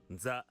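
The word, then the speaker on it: ざ: 1010 with additional Dakutan original phonic pronunciation Sa is changed to Za. Very cool. And if you want to listen to it. The Za, not the words. Za.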